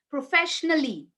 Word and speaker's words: professionally: musically it's musically okay professionally a sound is not there okay Shani are going